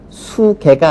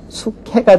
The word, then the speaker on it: 수캐: 수흐 있기 때문에 그렇습니다 마찬가지로 수에 개를 합성해서 말하면 수계가 아니라 수캐가 되는 거고요 수닥 당연히 수닥이 아니라